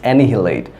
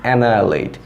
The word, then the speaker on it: annihilate: the pronunciation of it you will say anything late i think 60% of students will say that it's any late because they don't know the pronunciation of actual pronunciation of Eid is annihilate what was the actual pronunciation of it is annihilate so we annihilate ourselves